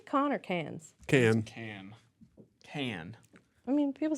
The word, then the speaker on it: Cannes: Can. I mean, people say Cannes, right? In France? No, I think they say can. I think people that don't know how to pronounce it say con.